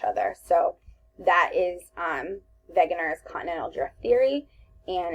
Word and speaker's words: Wegener: it looks like it's a W but it's pronounced a begginer the continental drift hypothesis using information from the